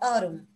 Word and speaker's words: autumn: Se escribe autumn, pero se pronuncia autumn.